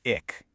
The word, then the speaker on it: Ik: First up, you've got ick. Super simple. It just means I. But the pronunciation is key here. It's a short, sharp sound.